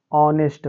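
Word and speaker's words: honest: क्या है गलत है तो ओ के पहले अगर बच्चों एच आएगा तो एच क्या हो जाएगा वहां पर साइलेंट हो जाएगा तो इसको क्या पढ़ेंगे हम ऑनेस्ट पढ़ेंगे इसी प्रकार यह ऑवर हो जाएगा और यह वाला बच्चों इको हो जाएगा और इसका जब उच्चारण करेंगे तो क्या हो जाएगा बच्चों ऑनर हो जाएगा ठीक बच्चों उम्मीद करते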